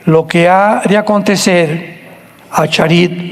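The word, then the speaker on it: אחרית: Postreros es acharit, así como suena con CH, se pronuncia acharit, acharit. Y tiempos o días son yom, Y-O-M de mamá.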